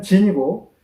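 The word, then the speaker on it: 晉: 뒤에 진나라는 친이라고 말씀드리겠습니다 중국발음으로 앞에는 진이고 뒤에는 친기 때문에 제가 이렇게 분을 해서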